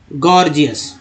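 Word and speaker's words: gorgeous: ई ओ यू एस गॉर्जियस, पहला गॉर्जियस का पहला जी का उच्चारण ग, दूसरा जी का उच्चारण ज हो रहा है।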